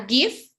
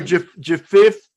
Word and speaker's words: GIF: Or GIF if you want to, or whatever way you want to say it, but it's GIF. You see, always learning.